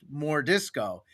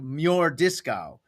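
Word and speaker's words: M'Jordiscau: And so we changed it so it's it's it's pronounced more disco, but on paper it's written as m apostrophe j o r d i s c a u. So it's like mure disco, but everyone calls him more disco.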